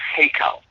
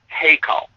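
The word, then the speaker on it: היכל: it's actually it's an Aramaic word and it's pronounced heo heo and and h e y k a l heo all right now this word means a palace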